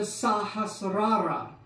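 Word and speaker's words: Sahasrara: pronunciation Crown seal chakra it's not the crown seal chakra it's the sahas Rara and it's not the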